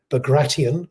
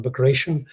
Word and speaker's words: Bagration: it is caticus I I believe the Russian pronunciation would be beg gratian rather than b gratian which is tends to